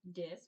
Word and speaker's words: dis: apart good okay so the prefix dis is pronounced dis with a short I you've got that you